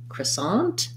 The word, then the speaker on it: croissant: this in american english most standard for american english is going to be cra sonde which is going to have a schwa and an croissant with second syllable stress croissant um you will hear